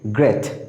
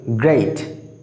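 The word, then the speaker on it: great: বন্ধুরা আমরা এটা সাধারণত ভুল উচ্চারণ করে থাকি, আমরা বলি গ্রেট, বাট it will be গ্রেট।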